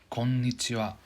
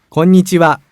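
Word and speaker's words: こんにちは: packed konichiwa to get into your first greeting konnichiwa konnichiwa konnichiwa konnichiwa if that's too fast for you you slow down a little bit konnichiwa konnichiwa amazing yeah that's the first actual lesson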